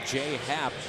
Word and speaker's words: J.A. Happ: And this is going to be Jay Happ, the pitcher, who will start tomorrow. He'll be the pinch runner. That's always a little risky using tomorrow's starter. But Jay Happ and it's J.A. Happ, pronounced J.